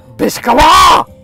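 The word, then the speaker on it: Beczała: __ ] what the it's pronounced biscala holy what the anyway Peter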